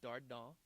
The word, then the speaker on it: Dardant: And so it's Dardant. T is silent, and I'm on the Facebook and all the Twitter and all the different social media sites.